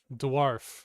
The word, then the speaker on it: dwarf: donkey donkey donkey donkey dwarf d w RF similar to darf similar to scarf incorrect say scarf scarf